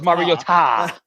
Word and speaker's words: Mariota: It's Mariota.